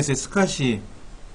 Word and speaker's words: SCSI: 쓰구요 그 스팟이 라이너에 스카시 scsi 이걸 일반적으로 우리는 스카시 라고 읽어 여긴 홀리 주로 스카시